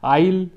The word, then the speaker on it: isle: through it the lake isle of industry isle s is silent and basically island shota